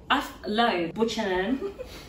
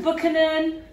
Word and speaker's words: Buchanan: Buchanan, Buchanan. What do you say? Buchanan. I'm now on Buchanan. Look, I said Buchanan. Yeah, right. Can we do emphasis on the bu?